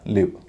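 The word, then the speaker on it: live: दोनों तरफ कंसोनेंट आखिर में ई है लेन उच्चारण हो रहा लिव एल आईवी का उरण लाइव भी होता है जब प्रसारण होता है किसी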